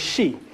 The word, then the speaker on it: Xi: as the she people she x-i that's that's how x-i is she that's how it's pronounced within um the omac tongue so the sheep people